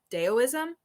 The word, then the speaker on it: Taoism: And oh gosh, I was mispronouncing it before, but it's Daoism. Taoism, yes.